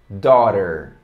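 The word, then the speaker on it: daughter: filha filha em inglês dora da hora olha como é que se escreve totalmente diferente de como se pronuncia na verdade dora para bonita e tório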